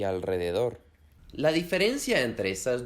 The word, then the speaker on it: alrededor: La R se pronuncia fuerte o trillada también cuando está detrás de la N, la S o la L, como por ejemplo en las palabras Enrique, Israel y alrededor.